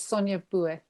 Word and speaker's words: Sonia: have to that's fine it's sonia sonia okay kind of the french institution pronunciation um a neurodivergent multi-form